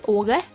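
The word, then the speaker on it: Aage: His name is Åge, but it's spelled with two A's instead of the letter, the Swedish letter.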